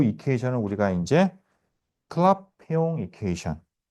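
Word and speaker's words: Clapeyron: 요거 이제 우리가 이게 발음 갖다가 이제 이게 잘 하기가 어려워서 클라페용이라고 합니다. 이게 프랑스 분인 것 같아요. 그죠? 이렇게 돼요. 오케이. 자, 그래서 클라페용 이퀘이션 여러분 암기하셔야 됩니다.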